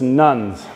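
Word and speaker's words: nones: what we call the religious nuns. That's spelled N-O-N-E-S.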